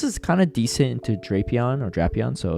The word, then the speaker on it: Drapion: All right, we have a Shadow Drapion here, or the correct pronunciation, I guess, is Drapion, which I personally hate, but it is what it is.